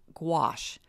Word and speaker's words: gouache: Now, I will share with you that it's called metallic gouache. Gouache is pronounced like squash, okay?